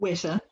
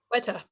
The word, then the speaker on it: Weta: Weta. Weta. Weta, yes.